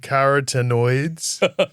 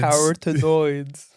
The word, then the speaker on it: carotenoids: orange pigment that flamingos are eating is called caratenoids. Okay. C A R O T. So that's spelled the same. Uhhuh. E N O I D S. Noids caratenoids. Carotenoids.